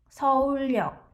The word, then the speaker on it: 서울역: 서울역, 서울역. So this is the same thing. 리을 followed by the 여 vowel, so 리을 is inserted, which means Seoul station. 서울역, 서울역.